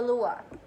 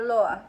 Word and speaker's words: Loa: a voodoo spirit of the Lua, or Loa, whichever pronunciation, whichever school of pronunciation for that you agree with.